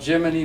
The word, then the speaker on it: Gemini: it's to be called Gemini Bob, like Jiminy Cricket, right?